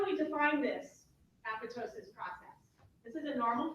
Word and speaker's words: apoptosis: You're going to see this pronounced three ways. I say apoptosis. It's just the way my training went. And I skip the second P.